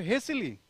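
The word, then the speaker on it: hastily: को करिए, डू इट हेसिली, डू इट हेसिली, यहां पे आपका टी साइलेंट है ना, तो डू इट हेसिली, जल्दी से काम करिए।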